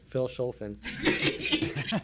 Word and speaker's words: Vilshofen: town of Vilshofen, and you pronounce it the way it's supposed to be. Phil Scholfen. That would be the way it's supposed to be pronounced.